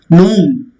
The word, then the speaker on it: gnome: W is silent. Gnome.